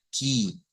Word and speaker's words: que: Ya hemos dicho que en ese caso, cuando se escribe que, como que fuera en español, pero que el sonido es ki, ki. Em, Vamos a ponerlo por acá. El sonido es así, ki.